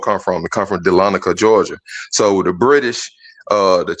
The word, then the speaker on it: Dahlonega: I don't know if you could pull it up on the screen, Gans, and spell it to him again. It's Dahlonega. It's Dahlonega.